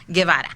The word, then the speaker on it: Guevara: while ago what's your last name gavar gavara okay gavar I've known I'm GNA